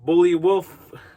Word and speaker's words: Buliwyf: Anyway, and then we got Vladimir Kolich as Bully Wolf. It's supposed to be Beowulf, but they spell it Buliwyf. So it's Bullywolf.